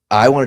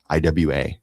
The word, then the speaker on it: IWA: do is go to IWA. They don't pronounce W's. They pronounce them like V's in Germany. That's what it's called, IWA.